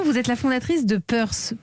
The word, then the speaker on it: Peurce: Vous avez 26 ans, vous êtes la fondatrice de Peurse. Peurse, ça s'écrit P-E-U-R-C-E.